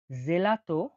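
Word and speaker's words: gelato: জি জি এর উচ্চারণ হয়ে থাকে। জি বা বরক জয় হাসি জি বা গি হিসেবে। জি বা গি হিসেবে উচ্চারণ হয়ে থাকে জি এর উদাহরণটা দেখুন জেলাতো জেলাতো বা গাত জেলাত বা গাত তাহলে জেলাতো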